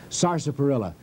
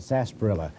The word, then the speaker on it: sarsaparilla: be very very beneficial sarsparilla now that's the correct pronunciation down in the south they call it sarsaparilla because it's too hard to get all those letters in but this is